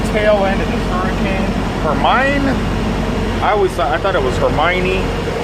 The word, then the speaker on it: Hermine: Hermine? I thought it was Hermione. And then I looked at the spelling. It's not, it's Hermine. Which was weird because when